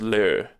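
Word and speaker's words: 乐: There's le with like an e over it, or with a little thing over the e, meaning joy, and approximately pronounced as le.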